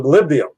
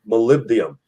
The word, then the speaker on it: molybdenum: Well, except for the molybdenum. The molybdenum, I pronounced it wrong the first time. Molybdenum.